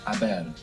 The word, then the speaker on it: haber: gone, in Spanish it's haber. Haber, H-A-B-E-R. And of course we have a silent H there in haber.